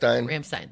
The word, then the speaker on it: Rammstein: Rammstein.